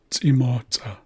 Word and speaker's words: T'imotza: So there's two apostrophes in this word here, and it's pronounced T'imotza. T'imotza. So you notice I'm pronouncing both of these ejective C's accurately.